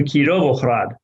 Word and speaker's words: Kirovohrad: on ukrainian maps was the wholesale change of the russian letter g by being part of the roman letter g with a letter h to reflect ukrainian pronunciation you can see this